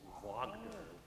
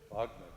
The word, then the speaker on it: Wagner: Well, it's spelled W-A, but in Austria and in German, the W's are pronounced like V's, like Wagner. Wagner.